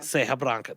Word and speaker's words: Serra Branca: Serra Branca.